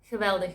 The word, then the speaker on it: geweldig: Geweldig means amazing. Geweldig. With the harsh G sound, it's geweldig.